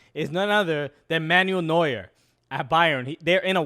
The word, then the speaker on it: Neuer: I heard that his go-to person for goalkeeping advice is none other than Manuel Neuer at Bayern.